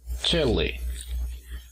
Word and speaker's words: Chile: Tenemos el apóstrofo al inicio, que nos indica que la mayor fuerza de voz está en la primera sílaba. Chile.